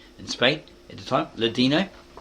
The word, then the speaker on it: Ladino: Ladino, not Latino, it's got here Ladino, Arabic, Portuguese, and modern Greek.